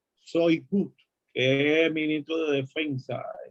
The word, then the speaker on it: Shoigu: Se pronuncia Shoigu, que es ministro de Defensa ruso, y Vladimir